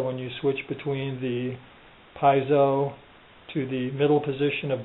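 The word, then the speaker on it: piezo: the adjustment for the piso is that how you say it it's spelled p i e zo o so I'm going to pronounce it phonetically piso Pio pickup which is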